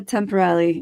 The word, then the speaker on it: Temperilli: you always uh the one proing so Sophia temporal uh did I pronounce that correctly yeah you're good okay is